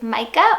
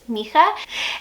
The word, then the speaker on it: Micah: Next up for boys is Micah, or the Hebrew pronunciation, which is Micha.